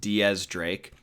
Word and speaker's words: X Drake: my boy x Drake and before I say x Drake anymore I just want to put out there that I know it is pronounced Diaz Drake but exactly the same as what tekking said